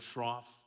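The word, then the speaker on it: Schroff: correctly Laura I made a note of it Shroff and the book is called an invisible thread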